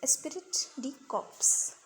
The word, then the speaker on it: esprit de corps: So spelling is ESPRIT DECORPS, Esprit de Corps. So it's the pronunciation Esprit de Corps.